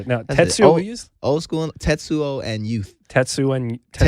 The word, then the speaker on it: Tetsuo: Tattoo on Youth. And the reason why I told you, the reason why I asked you to say the album, because I have a hard time pronouncing it. No, Tetsuo.